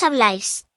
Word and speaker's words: habláis: To say you speak, informal and plural, we take the root word and add a with an accent, is, which is pronounced ice. So you speak is, Vosotros habláis.